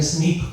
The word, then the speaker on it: SNP: esa frase en inglés y esto se pronuncia como un snip cuando uno está en